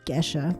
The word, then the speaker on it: Gesha: This is a geisha variety or Gesha variety. It's spelled Gesha, like Gesha, from Colombia.